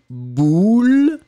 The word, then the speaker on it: boule: Ici, le premier, vous allez le prononcer comme un ou, boule, et le deuxième, eh bien, vous allez le prononcer comme un u, bulle, d'accord ?